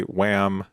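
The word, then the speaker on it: Wham!: Wham, which is appropriately or or technically wham exclamation point. The exclamation point is silent.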